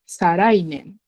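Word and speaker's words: 再来年: So it'll become sarai. And then it uses nen instead of toshi. So for toshi, you have to be a bit careful because they have two ways of reading it. So it becomes sarai nen.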